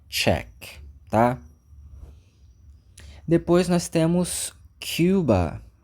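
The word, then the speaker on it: Czech: republic esse país aqui esse czz ch eu acho uma loucura porque nada soua do jeito que parece mas quem nasce lá nós chamamos de check E aí para facilitar vamos dizer que aqui ó é check republic tá para não confundir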